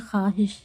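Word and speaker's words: خواہش: पढ़ा नहीं जाता है खवाहिश लिखा है लेकिन हम बोलते हैं खवाहिश वाव को पढ़ा नहीं जाता वाव साइलेंट है खुश खुर्शीद तो क्या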